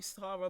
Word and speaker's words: Sara: So, why are you Sara, but I call you Sarah?